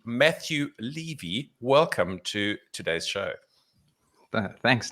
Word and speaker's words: Levy: of his name right it's not levy it's levi matthew levy welcome to today's show